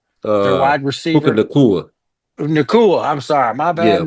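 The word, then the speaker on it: Nacua: Um, I can never say his name right, but Puka Nuka, uh, their Uh wide Puka receiver, Nakua.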